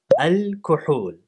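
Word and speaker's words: الكحول: Al-kuhul. The word was reborrowed back into its mother language, this time with a long second vowel.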